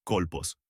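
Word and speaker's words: kólpos: Se pronuncia colpos, que se puede traducir como ensenada, regazo, seno.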